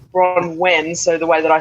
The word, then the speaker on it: Bronwen: Bronwen is actually Welsh, so it comes from Wales.